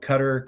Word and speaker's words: Qatar: makes sense but anyway I feel like it rhymes with guitar but that's a whole